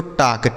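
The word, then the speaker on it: talk: यहां एल है जो यह साइलेंट है। जैसे वाक में एल साइलेंट है ना। उसी तरीके से टाक में भी एल साइलेंट।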